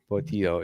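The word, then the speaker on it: Portilho: Portillo, yeah.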